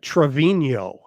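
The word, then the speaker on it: Treviño: Yeah, Trevino. Oh, I didn't see the tilde.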